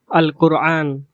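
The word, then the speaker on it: القرآن: যেমন আল কোরআন, আল কোরআন। বিশুদ্ধ আরবি ভাষায় আল কোরআন এর আঞ্চলিক উচ্চারণ হবে আল কোরআন, আল কোরআন। এখানে কফের উচ্চারণ গ এর মতো হয় নাই, কারণ আল কোরআন শব্দ দ্বারা প্রসিদ্ধ ধর্মগ্রন্থের নাম বোঝানো হয়েছে।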